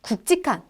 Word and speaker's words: 굵직한: 우리의 골라 면 루피 그러니까 뒤 꼴로 마르면서 굵직한 이라고 발음하는 게 맞다 알겟지 꼭 함 법